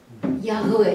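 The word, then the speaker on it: יהוה: Ягве, як у білоруській. Вимовляється як по-білоруську.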